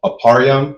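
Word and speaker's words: אפרים: For instance, a um aparam, which is how you say Ephraim, the tribe of Ephraim, who are the so-called Puerto Ricans, right?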